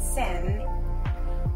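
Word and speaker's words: sinh: Traditional skirt called sen and is spelled S-I-N-H is a wrap around tube of skirt made of silk, cotton and silk, or cotton only.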